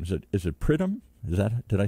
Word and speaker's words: Pridham: David and I forgot to ask how to pronounce his name is it is it prym is that did I say even close here